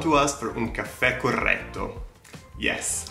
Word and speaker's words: corretto: I know, that's a lot of R's. Rrr, corretto grappa.